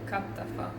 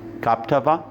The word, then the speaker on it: Kaptafa: And how do you pronounce the name? Kaptafa. Kaptafa? Kaptafa.